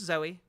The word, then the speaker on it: Zooey: over on Twitch um how's that pronounced it's just Zoe Zoe it's fairly common name um as a translator